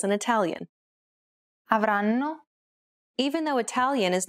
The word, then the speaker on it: avranno: Notice how each syllable is pronounced for roughly the same amount of time? The first N is held for roughly the same amount of time as all the other syllables.